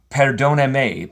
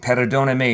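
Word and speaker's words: perdón: I'll say, so I asked a friend how to say this, and he said it's perodon. Paradon. And you can roll your R a little bit, your Rs.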